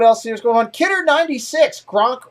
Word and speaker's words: Gronk: Gronk rhymes with Kronk.